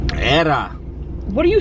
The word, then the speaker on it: era: Era. What are you saying? Era. E-R-A. Say it like- Era. Oh. See, when you roll your tongue, that sounds like an L.